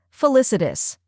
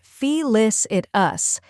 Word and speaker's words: felicitous: The correct pronunciation is felicitous. Let's break it down. First, we have fee, which sounds like the fee in fit or finish. Next is lis, which rhymes with kiss.